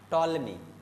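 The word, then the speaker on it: Ptolemy: टॉलमी, P silent होता है, okay, तो है ना? पी क्या होता है? साइलेंट होता है। जैसे साइकोलॉजी है ना, तो टॉलमी road geography of India in second century AD.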